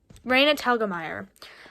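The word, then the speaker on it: Raina Telgemeier: by renatel talmadge i just looked at the pronunciation reina telgemeier right sisters by reindus hilgemeyer um and i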